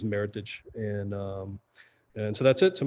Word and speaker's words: Meritage: And it's a combination between 2 words, merit and heritage. So most people think the correct pronunciation is Meritage.